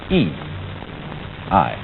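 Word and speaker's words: 義: not law but Justice this word is pronounced e I and Justice in this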